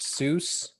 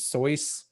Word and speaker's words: Seuss: Seuss was not pronounced, the name Seuss is not pronounced Seuss. I was told this. I don't know this definitively, but I was told this by a friend that Seuss was actually pronounced as Soyce.